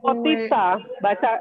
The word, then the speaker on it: potica: Potica. Bacanya potica.